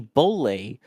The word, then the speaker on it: BOLE: And this is going to be one of the Bolle boosters as we've learned that it's pronounced.